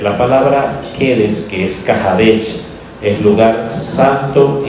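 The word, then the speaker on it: Kedesh: Oeste, es Kahadesh, que se pronuncia Kahadesh, pero se escribe Kedes, muy bien.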